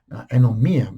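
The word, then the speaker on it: ἀνομία: that's another one now anomia anomia basically is how it's pronounced is breaking the law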